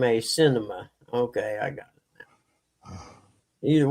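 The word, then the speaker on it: Sinema: That senator's name is pronounced Cinema. S I N E M- A Cinema.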